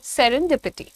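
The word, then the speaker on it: serendipity: है सेरेनडिपिटी सेरें डिपट डी का sound अलग से देना है आपको सेरें पिटी सेरें पिटी ठीक है so don't say D pity you have to से सेरेनडिपिटी कैसे सेरन अलग डिपट अलग सो थोड़ा सा ब्रेक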